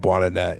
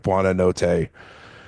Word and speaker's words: Buonanotte: meanwhile, though, I'm never gonna say it right, and I remember literally yesterday hearing the Leicester City commentary, but I call him Buonanet, and it's like Buonanotte.